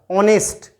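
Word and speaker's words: honest: ओ इसका प्रोनाउंसिएशन है ओ से शुरू हो रहा है, तो ओ से शुरू हो रहा है तो ओ है वो किसका, हिंदी वाले जो वोवल्स हैं उनका पार्ट है, तो किसका यूज होगा, एन का यूज होगा, एन ऑनेस्ट मैन।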